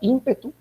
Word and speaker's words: ímpetu: llamar, en este caso, ímpetu, con acento en la letra I, y también, momento, o